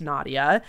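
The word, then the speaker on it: Nadja: read this in English it's pronounced Nadia even though it's spelled with a J my pronouns are she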